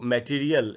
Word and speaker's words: material: इसका जो correct pronunciation है वो है मठी, और मची के बाद आधा अ है, फिर री है, उसके बाद भी आधा अ है और फिर ल है, यानी इसको हमको पढ़ना चाहिए मटीरियल।